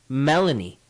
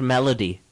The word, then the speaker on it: Melanie: probably forgot her name her name is Melanie Vogel not melody welcome Melanie Vogel that's